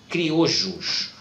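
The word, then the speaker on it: criollo: América, são chamados de criojos. Observe que eles são escritos com 2 L's, mas a pronúncia é criojo.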